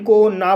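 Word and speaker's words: cone: सी को का पढ़ा जाएगा, ओ को ओ पढ़ा जाएगा, एन को ना पढ़ा जाएगा और लास्ट में ई है इसको साइलेंट किया जाएगा।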